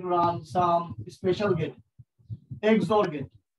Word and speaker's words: XOR: Now we're going to run some special gate, XOR gate. উচ্চারণটা হচ্ছে XOR, এর মানে হচ্ছে এক্সক্লুসিভ OR।